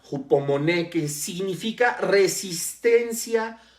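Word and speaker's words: ὑπομονή: La palabra constancia viene del griego hupomoné, con acento en la última E, y con J, hupomoné, que significa resistencia o aguante alegre.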